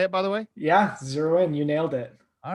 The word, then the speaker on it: ZeroIn: Yeah, ZeroIn.